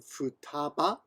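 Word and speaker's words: 二: The second child was named Futaba. The third number was named Mitsuro. Mitsuro, I think. Mitsuhiro. Anyway, Ichi, Ni can be pronounced as Futa as well, so they change it.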